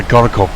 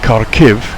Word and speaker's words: Kharkiv: quick note to say korokop is a russian pronunciation the cities in the far eastern part of ukraine it's the second largest city mostly russian speaking and karakiv is the ukrainian method of saying it interesting to note that